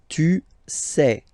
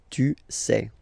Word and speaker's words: tu sais: Okay, tu sais, same form, final S not pronounced, tu sais.